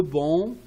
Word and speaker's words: banc: Tournez, inversez votre feuille sur le banc, on ne prononce pas le C, the bench, directement après avoir fini, after finishing, l'écoute.